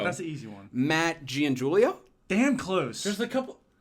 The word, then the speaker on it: Giangiulio: Matt Giangiulio. Damn close. There's a couple. What is it? What did he get wrong? So, all right. So, in Italian, Gian is pronounced Jean, not Giangiulio?